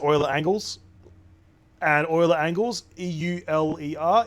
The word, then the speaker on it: Euler: angles and Euler angles e-u-l-e-r is pronounced Euler fun fact well it's